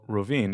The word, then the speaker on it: Rovinj: And so this town is called Rovinj, a beautiful, cute little town if you ever get a chance to visit Croatia. And it is spelled Rovinj.